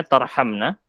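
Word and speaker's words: تَرْحَمْنَا: 7 dan 8 yang nomor 8 tarahamna itu salah Apa betul ya itu ya Iya betul tapi harokatnya agak geser dikit agak kegeser dikit itu bacanya tarhamna bukan tarhaman menyayangi gitu ya baik bentar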